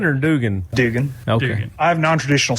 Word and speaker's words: Dugan: Is it Duggan or Dugan? Dugan.